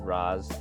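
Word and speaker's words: Ra's: made him like yeah it's technically rash everyone says raz yeah actually because it's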